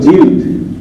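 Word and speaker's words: جلد: কোরআন শরীফ জিল লয়ে, আসলে শব্দটা জিল না, শব্দটা হলো জিলদ। শব্দটাও কি? জিলদ। কেমন? যা লাম জিম লাম জের জিল, তারপরে দাল দুই পেশ দুন, জিলদুন, আর সাকিন করলে কি হয়? জিলদ।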